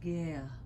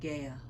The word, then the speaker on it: Gaia: was a pagan, said that it should be pronounced Gaia. Very soft, Gaia.